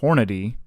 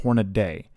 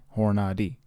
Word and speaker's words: Hornady: guys it is pronounced hornady not horned day it's not d-a-y it's h-o-r-n-a-d-y horn id not horn a day just that bothers me